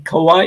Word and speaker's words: Kauai: Akara, you're in Kauai.